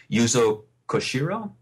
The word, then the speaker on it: Yuzo Koshiro: and I I hope I don't say his name wrong yuzo koshiro that's correct he uh I definitely think Streets